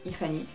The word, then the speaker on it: iFanny: iFanny, pardon, ou iFanny elle prononce, iFanny.